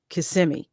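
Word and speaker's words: Kissimmee: will call it kissm but it is properly pronounced KMI that's what it's WR right and just be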